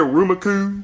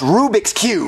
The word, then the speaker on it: Rubik's Cube: go in your store and buy me a Ruma Cube what a Ruma Cube are you saying Rubik's Cube no auma Cube Jeffy it's pronounced Rubik's Cube no it's auma Cube Marvin you know what